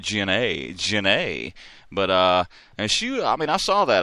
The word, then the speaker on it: Gennae: I had it written down with the big A, so I'd make sure I pronounced it Jennae.